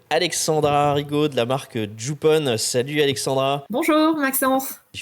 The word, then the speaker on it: Jup'On: marque qui s'appelle donc jupon tu l'as bien prononcé bravo jupon c'est ben alors Jup apostrophe on puisque là on n pas à l'écran et en fait c'est la jupe qu'on met par-dessus d'où le on euh voilà et alors